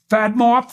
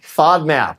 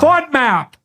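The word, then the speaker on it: FODMAP: called um there's one fad mop fat is that right F diet fod map yeah fod map fod fod map diet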